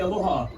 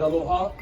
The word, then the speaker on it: aloha: way to say aloha sometimes you'll see people who else yell the word Aloha or elongate that word Aloha but that's our beloved Queen he says that changes the meaning the proper way to say Allah Aloha but don't go out